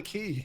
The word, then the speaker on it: Quay: what it's not a it's called the key it's literally called the key sort of pronunciation it's a spelling thing I said the one